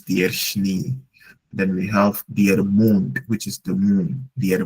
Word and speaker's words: der Mond: Then we have der Mond, which is the moon, der Mond, and the mouth is der Mund.